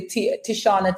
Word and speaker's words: Tishauna: But let me just spell it quickly. Tishauna, Tishauna.